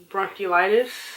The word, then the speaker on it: bronchiolitis: It was actually bronchiolitis. Bronchiolitis. So, which is very unfortunate. If you don't know what that is, it's not bronchitis. We're not saying it wrong.